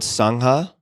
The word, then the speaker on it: Sangha: Some of your current projects include MMTCP, a worldwide mindfulness teacher training, Cloud Sangha, if I'm pronouncing that correctly.